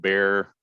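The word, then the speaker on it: Bexar: know a lot of texans call it bear it's spelled bexer county but it's right on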